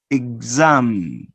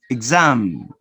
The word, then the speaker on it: exam: the voiceless sounds now notice here that you're going to produce it with a voice and with vibration z z listen and say these words exam exam and notice how you pronounce it exam exactly exactly so the